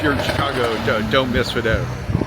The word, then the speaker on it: Fado: Hey, we're in Chicago continuing our Route 66 journey and we're at I but it's pronounced Fado uh Irish pub which has the the name has a great background.